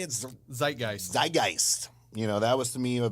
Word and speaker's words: Zeitgeist: Zeitgeist.